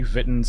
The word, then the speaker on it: Vitten's: Game's called Ruby Vitten's Party. Yeah, it's like kitten but spelled with a V.